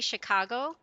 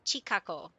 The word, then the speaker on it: Chicago: Um they can't say Chicago. My my parents always call it chako.